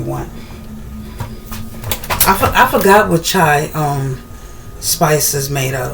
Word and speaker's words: chai: Not chia. Chai. Am I saying it right? Chia or chai? It's chai.